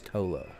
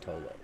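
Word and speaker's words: Ptolo: Oh, I keep forgetting the P is silent. It's Tolo. Oh, that's right. That's right. It's just Tolo.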